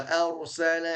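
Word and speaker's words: أَرْسَلَ: Dan huruf ra-nya tafkhim ataupun tebal. Bukan wa arsala. Arsala. Ini bacanya benar tetapi kurang maksimal dari sifatnya. Ra-nya harus tebal. Tafkhim.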